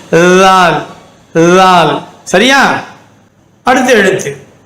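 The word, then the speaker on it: ث: சா, சா. கவனிங்க, சான்னு சொல்லும்போது நாக்கு வெளியே வந்து காற்று மட்டும் வரணும்.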